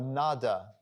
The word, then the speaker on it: Nada: The Anahata Nad, Anahata is unstruck, and the Nad or Nada, it can be just pronounced two ways, depending on which part of India you're from, I guess.